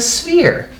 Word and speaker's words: sphere: three-dimensional and it's a sphere and look a silly way that you spell sphere yeah that's how you spell sphere remember how we talked about sometimes pH makes the F sound and sphere it does